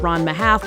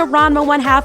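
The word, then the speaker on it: Ranma ½: half and yes I know that it's actually pronounced RMA half but I've been pronouncing it Rona 1 half my whole life so we're still going to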